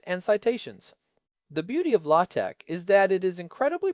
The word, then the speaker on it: LaTeX: It is spelled L A T X but pronounced latte.